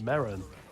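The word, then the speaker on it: Merrin: ] it's pronounced Marin See's top four favorite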